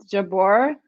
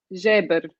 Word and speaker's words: Jabeur: Well, most media just says it Jabor, but Okay. in Arabic, I'm assuming it's Jabir. But Jabeur. it's how Okay. it's written. That's why people pronounce it Jabor.